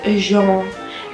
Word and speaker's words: genre: Genre is spelled like the word genre in English, but we do not pronounce really the R and the E. Some people do. Usually in spoken French, you don't even hear the R or the E because it's said so quickly and so fast.